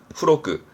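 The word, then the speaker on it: 付録: 부록 발음은 후로크.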